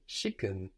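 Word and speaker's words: schicken: for send you will also very commonly hear shicken shicken which is spelled like chicken through vaness at the beginning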